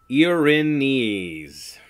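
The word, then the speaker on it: Erinyes: people are called guidance ironies Arrhenius the actual pronunciation you're in knees yeah it's a Greek name of the Furies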